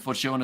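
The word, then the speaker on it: Fortuin: and the chewing and Fortune is pronounced like time uh in stone really okay I'll keep that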